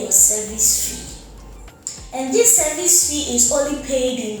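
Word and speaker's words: SEVIS: go ahead and pay your service fee the service is spelled um s e v i s service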